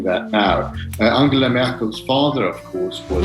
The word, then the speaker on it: Angela: are we getting unshackled angela merkel then are we seeing the real ange uh at the moment i think yes she calls herself like a long e at the end i i think to